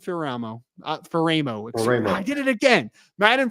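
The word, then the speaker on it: Faraimo: San Juan Capistrano California jerah Catholic linebacker Madden fero is apparently how it's pronounced I think so we I may have called him fer at one point it's fero we're doing the pronunciation thing again Madden fero Sean 6 fo three 230 pounds number 63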